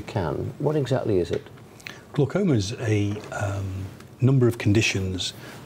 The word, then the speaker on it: glaucoma: I'm liably told it's glaucoma. Dr Rob Hogan is with me. Rob, good morning and welcome to the programme. Is glaucoma right then? Is that how you say it? Glaucoma? That's fine.